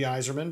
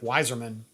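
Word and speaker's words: Yzerman: Could not initially correctly pronounce it. I can understand that. It'd be like Weiserman is what I would call it normally.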